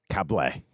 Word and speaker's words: Cable: Cable. That's a correct pronunciation.